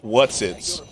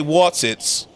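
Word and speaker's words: Wotsits: I love that they're called Whatsits. Am I saying it right? Whatsits? Or are they Watsits? Oh, they Watsits.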